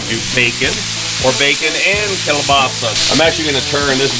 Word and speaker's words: kielbasa: When I was a kid growing up, of course, they didn't call it kielbasa. They pronounced it kielbasi.